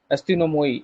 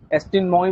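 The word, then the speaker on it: ἀστυνόμοι: He called the town officials as अस्तिनोमोई।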